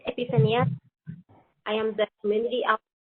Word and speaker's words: Epifania: Epifania, I'm not sure how to pronounce it, but I think it's Epifania. Sí, hi, it's Epifania.